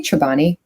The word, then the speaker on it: Chobani: wait wait wait wait is it Chobani or chabani how do you say it oh I say chabani Chobani yeah I say cho